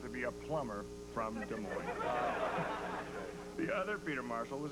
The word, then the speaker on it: Des Moines: Our booking department tracked him down in Des Moines, Iowa. The S is silent.